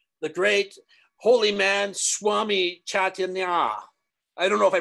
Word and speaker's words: Chaitanya: Tanya, chai like tea, chai. And Tanya like a ballerina or an ice skater, figure skater, chai Tanya, right?